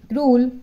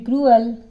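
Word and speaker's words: cruel: don't be don't be क्रूल to animal don't be क्रूल don't be क्रूअल sorry इसको क्रूअल बोलेंगे ठीक है इसको हम क्या बोलेंगे क्रूअल इसका सही उच्चारण है क्रूअल don't be क्रूअल टू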